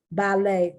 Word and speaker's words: ballet: point it's not there ballet that's from french as a result you do not pronounce the t correct now i've heard